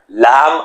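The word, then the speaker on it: لا: created a new letter Lam alef you now know it the C is expanding Lam alif mostly pronounced as La wow and the letter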